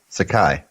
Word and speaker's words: Sakai: aye it's a Caillou sake or can you spell it s ay que hay I Sakai Sakai Stan Scott yeah gingka like Iron Chef is that an Iron Chef Sakai oh he was the I think it was